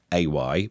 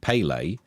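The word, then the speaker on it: Pelé: Not pay, Pele. not Paylay, Pele, but Pel.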